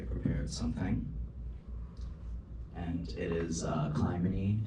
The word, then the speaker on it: Clymene: The next person I have on the list, now hopefully I pronounced it correctly, is, it looks like Climbing Fox.